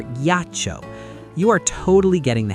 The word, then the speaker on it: ghiaccio: Normally, G followed by I would be soft, but that silent H is our little hardener, forcing the hard sound for ghiaccio.